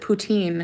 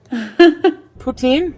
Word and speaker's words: poutine: poutine louise puts in english people pronounce it poutine it's puts in any french person will tell you that putin put in putin putin